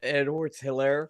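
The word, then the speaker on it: Edwards-Helaire: in the two yard run on the middle by who is that Edwards how you say it Clyde Edwards Hillary there you go all right so I took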